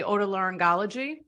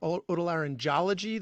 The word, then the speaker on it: otolaryngology: but you know not some people get the G the G wrong you know like a soft G like otolaryngology that's where they get hung up a little bit but yeah otolaryngology you got it or